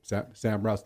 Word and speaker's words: Sam Raus: Sam Raus, thank you for correcting that pronunciation, too.